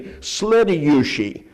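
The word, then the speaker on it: следующий: I don't know why they don't just have a little word like next to say next, but they have to say slediyushi. That's 4 syllables.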